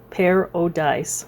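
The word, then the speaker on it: Pair-O-Dice: just have to say that is spelled p a i r dash o apostrophe d i c e pair o dice pair pero dice ranch on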